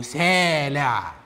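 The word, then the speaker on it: סלע: الاختلاف هو التشكيل، برضو سامخ لامد إين، بس الإين هنا بقى نطقناها. حد يقول لي ليه؟ اقول له هو كده، لكن هي نفس الكلمه، بدل ما يتقال سيلا بقت سيلا أو سالع.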